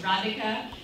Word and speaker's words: Rathika: do the lesson so it's radika sitsa by E so sits by e um it's it's not really hard you just read it phonetically 12 letters it's not